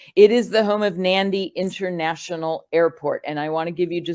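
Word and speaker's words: Nadi: turns in it so in front of a d the letter D in Fijian you pronounce an N so it's actually nandi international airport it's not naughty or naddy it's nandi International Airport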